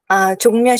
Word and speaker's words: Jongmyo: Is it right, Jongmyo Shrine, the right pronunciation or not? Jongmyo Shrine is right. Jongmyo Shrine, yes. Okay.